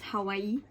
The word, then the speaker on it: Hawaii: I mean, literally my dream place is for sure Hawaii, or like how it's actually pronounced, Hawaii.